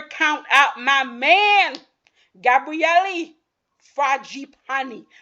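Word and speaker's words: Fragapane: And of course, you can never count out my man, Gabriele Fragipani. I think I said it right, right? Somebody wrote out the corrections for me. It's Fragipani. If I'm wrong, let me know.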